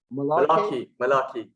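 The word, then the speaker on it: Mullarkey: Malarkey.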